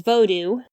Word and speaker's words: vodou: As I've said here, the more appropriate pronunciation for voodoo is vodou.